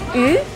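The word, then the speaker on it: 鱼: En chino, yu, que es pescado, se pronuncia de la misma manera que yu, sobra.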